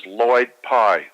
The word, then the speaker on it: Lloyd Pye: One is Lloyd Pye, spelled with two L's, L-L-O-Y-D.